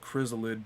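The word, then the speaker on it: Krizalid: legit one of them called chrysolid but it's spelled like k-r-i-z-a-l-i-d but they legit put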